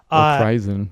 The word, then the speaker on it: Krizan: Is that how you pronounce her name? It's spelled Krizan. Oh, Kirzan. Sorry, I missed the Z. Kirzan.